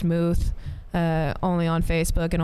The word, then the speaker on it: Möth: Um, but Moth is actually spelled with the German O. Um, so it's pronounced Muth.